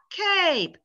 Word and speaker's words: cape: how interesting this is k sorry cap cape cap cape just by adding that silent e the vowel sound change maybe this is a